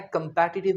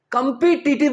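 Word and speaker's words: competitive: यह शब्द काफी आता है कंपैटिटिव एग्जाम्स में। एक चीज मैं बता दूं, कंपीटिटिव नहीं होता, इसका प्रोनाउंसिएशन होता है कंपैटिटिव।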